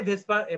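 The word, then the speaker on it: VSEPR: আসলে কি ভেজপার তত্ত্ব এটারে ভেস্পার বলা হয় কিন্তু ওই বানান দেখলে কিন্তু অদ্ভুত বানান দেখে তোমরা আসলে উচ্চারণ করতে পারবা না তো এই জিনিসটাই আসলে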